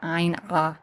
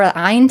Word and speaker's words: ayin: And like the aleph with the ayin, we also pronounce this in modern times, at least in the West, as an ah sound because people have a hard time pronouncing that ayin sound.